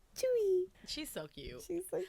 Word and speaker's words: Tzuyu: like Chewy. I was like, oh, that's so cute. She's like, how do you want it to be pronounced? She's like Chewy.